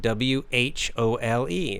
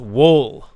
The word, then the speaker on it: whole: So you might see the word and you might think it's pronounced wool. But of course you would be wrong. The W is silent. It's pronounced whole.